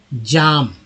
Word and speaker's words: jam: तो जैसे जे से हम लेते हैं, जैसे JAM, क्या बोलते हैं, जाम, है ना, जैम बोलते हैं, जाम नहीं बोलते, जैम हिंदी में जाम हो जाएगा।